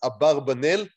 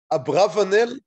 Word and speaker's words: Abarbanel: himself in different ways so we would use the usual israeli pronunciation is a barbanel in english it seems that abravanel is more of problematics okay anyhow and yeah